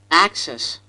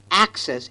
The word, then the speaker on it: access: it is pronounced Abacus access well Indians emphasize the second syllable instead of the first the a must be long in duration so it should be access and not access accessory